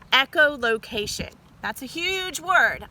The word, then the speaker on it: echolocation: They have a special sense called echolocation. That's a huge word. I want you to clap that sound, all those sounds in that word out. Echolocation. Wow, that's 5 syllables.